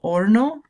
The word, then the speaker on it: horno: H is silent on the next one, el horno.